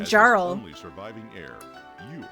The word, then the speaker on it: Jarl: It's pronounced Jarl.